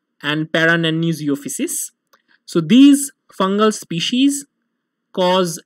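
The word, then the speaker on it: Paranannizziopsis: Lastly, there is a rare species of fungus generally found in reptiles whose name is pretty difficult, and it's pronounced as nanizophysis and parananizophysis.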